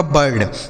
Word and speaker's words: bird: ही पढ़ा जाता है, यहाँ पर आई का उच्चारण आ हो जाता है।